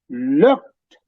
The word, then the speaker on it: looked: அப்படி looked என்று சொல்லிக்கல, that D is not exactly a heavy D. It's a softer D. Sounds almost like a T. So these are strange things in the English language. When you pronounce looked, sounds almost like a T, but it's a D letter.